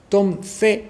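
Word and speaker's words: Tom Zé: conocía que se llama Tom C con z y con acento en la e un tipo que también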